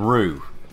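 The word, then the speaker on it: Roux: Their names end in Roo, and that's spelled R-O-U-X.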